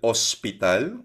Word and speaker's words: hospital: Health and Emergency L Hospital. So silent H po yan.